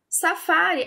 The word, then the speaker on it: safari: Safari, a sílaba tônica dela é a penúltima, né? A sílaba mais forte.